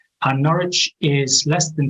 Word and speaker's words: Norwich: And we're in that city you see there called Norwich. So although there's a W in the spelling of the name, you don't need to pronounce that, it's just pronounced Norwich. And Norwich is less than 2